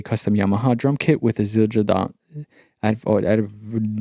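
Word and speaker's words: Zildjian: kunikov played a custom Yamaha drum kit with azildra DOT I thought I would never figure out how to pronounce this brand name but it's a drum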